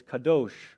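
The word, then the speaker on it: קדוש: When you pronounce holy, it's Kadosh or Kodesh.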